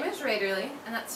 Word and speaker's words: Raederle: So, if you missed it, my name is Raiderly and that's spelled R A D E R L E.